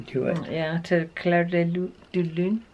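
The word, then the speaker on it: Clair de Lune: Not de Lune. You say de Lune. De Lune. You gotta pucker your lips like no, this.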